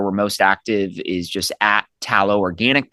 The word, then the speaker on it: Talo: So, um our Instagram handle uh which is where we're most active is just tallow organic, but Tallow is spelled T A L O.